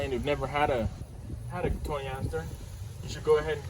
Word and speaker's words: Cotoneaster: It's a Cotoneaster or Cotoneaster. There's a lot of people pronounce it differently. I pronounce it Cotoneaster. Sometimes I say Cotoneaster.